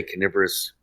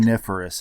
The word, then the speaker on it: coniferous: it and beautiful mountains and like you say canorous or how do you say that word the forest coniferous it's yeah it's a weird word yeah yeah